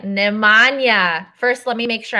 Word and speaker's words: Nemanja: It's Nemanja, and inside Balkans is, outside is, I'll say yeah.